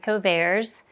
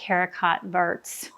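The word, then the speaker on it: haricots: And I don't speak French, but I think you say it ares. It looks like her cotts, but I'm pretty sure that's not how you say it.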